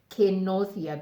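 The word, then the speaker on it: Kĩnũthia: So the proper pronunciation of my name is Kenothia, because this is not an I, it's an A, and this is not a U, it's an O.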